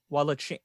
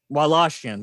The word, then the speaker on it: Wallachian: to have been inspired by the 15th century Wallachian. I've pronounced that wrong. Wallachian, yes, thank you.